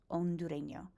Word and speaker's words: hondureño: Again, with a silent H, Hondureño.